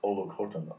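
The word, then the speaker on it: Olukotun: and his last name is Olukotan, O-L-U-K-O-T-U-N.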